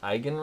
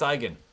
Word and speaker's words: Eigen: can't find them anymore see how I pronounced eigen right I did a video and I kept saying enigma I would be like the Enigma barrel and I'm like nope it's eigen again I don't think I